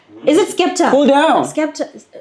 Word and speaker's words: Skepta: Skepta.